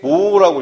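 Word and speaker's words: mho: 이렇게 모라고 읽어요. 모.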